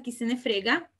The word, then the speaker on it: chi se ne frega: Luego, otro es chi se ne frega. Son separados, pero lo pronuncian todo como si fuera una palabra todo junta, chi se ne frega.